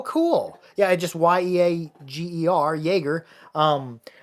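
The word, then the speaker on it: Yeager: yeah I just y-e-a-g-e-r Jaeger um I figured it was pronounced about like Jagermeister but with uh that's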